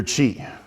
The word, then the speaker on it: qi: So in Chinese medicine, they focus on your energy, your qi, spelled QI, again, Chinese pronunciation, doesn't follow phonetically with ours.